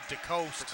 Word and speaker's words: DeCoste: Yeah, it's actually DeCoste, not DeCoste, not DeCoste. DeCoste.